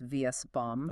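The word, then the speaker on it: VSBOM: That's pronounced VS-bomb.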